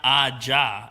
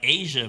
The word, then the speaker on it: Aja: It's not Aja. It's like Asia, but it's spelled AJA.